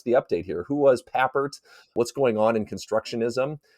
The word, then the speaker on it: Papert: It's Papert. Papert. Okay. Yeah, yeah. So I just kind of think of paper and then Papert.